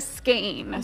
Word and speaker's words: skein: It's called a skein? A skein. Some people say skein. Okay. It's spelled S-K-E-I-N, it's controversial. Right? Totally. Yeah. We're going with what you tell us. Yes. You're I say the winner. Skein. Yeah, that's the winner.